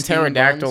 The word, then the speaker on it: pterodactyl: did it but then in pterodactyl like the p is silent so like what yeah